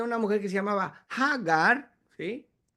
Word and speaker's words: Hagar: egipcia, cuyo nombre es Hagar. En hebreo es ja. Esto empieza con he ja de aliento hacia afuera. Hagar. Otros pueden no más pronunciar agar, está bien, pero la pronunciación más apegada es hagar.